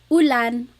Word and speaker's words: ulan: So ulan, upuan, rain and chair, U. Not like under or umbrella. The letter U in Tagalog has an U sound.